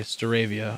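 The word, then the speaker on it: Staravia: out on how certain things are one okay steravia okay that's what i thought because i heard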